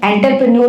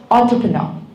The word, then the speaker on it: entrepreneur: पहली बात तो एंटरप्रेन्योर नहीं है, इट्स entrepreneur. It's entrepreneur, बट है.